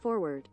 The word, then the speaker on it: forward: most Americans pronounce it forward a phenomenon has emerged in recent decades in which some Americans drop the first R in linguistic circles this